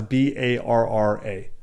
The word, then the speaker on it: Barra: So, because some of the best academies in the world are Gracie Barra, and Gracie Barra is Barra. Yeah, I'm just pronouncing it in Brazilian, Portuguese, whatever.